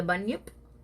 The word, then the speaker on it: Bunyip: You want to talk about the Bunyip? Is that how it's pronounced?